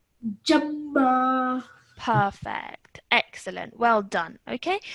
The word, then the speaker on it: جما: So join this to this with force. Jama.